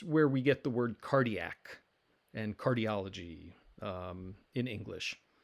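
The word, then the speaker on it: καρδία: a word the word meaning heart or mind cardia and so we've got kappa alpha rho delta yota alpha and that's where we get the word cardiac and cardiology um in english so cardia the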